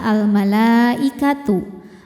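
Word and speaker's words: الْمَلَائِكَةُ: Mad tabi'inya fathah panjang, hamzahnya i pada kata al-malaikatu. Maka lamnya panjang, boleh 4 boleh 5 harokat.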